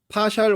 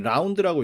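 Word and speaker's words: ∂: 저걸 읽을 때 파샬이라고 읽으면 돼요. 어떤 경우에는 라운드라고 읽기도 해. 동그라미 라운드 y 오버 라운드 xi 이렇게 읽는 사람도 있는데 대개의 경우에 파샬이라고 읽어요.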